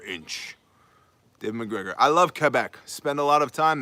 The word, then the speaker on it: Quebec: See, and you know, if you know somebody from Quebec, when you pronounce it, because most people say Quebec, but it's Quebec, like a K with a K.